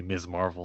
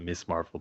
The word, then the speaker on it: Ms. Marvel: I hope they say her name properly, Ms. Marvel, and not Miss Marvel.